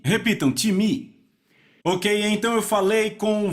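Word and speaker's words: τιμή: grega time então soletra se pm em português pronunciamos talvez time não se pronuncia dessa forma em grego se pronuncia time repita um time ok então eu falei com várias não eu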